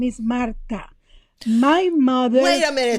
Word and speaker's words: Marta: It's not Martha, it's Marta. And it's not with a Z, it's with an S because my Look family.